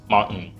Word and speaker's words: mountain: Mountain. We'll just leave the T out.